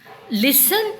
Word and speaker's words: listen: The young elephants listen to LISTEN. Listen children, underline. Here also T is silent.